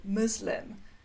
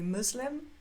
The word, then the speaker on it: Muslim: Um, just to draw your attention to the pronunciation of the word Muslim. In the UK, we say Muslim. In the US, they say Muslim.